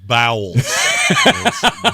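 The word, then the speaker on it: Bowles: name again Todd BS it's pronounced bowels BS old Todd bowels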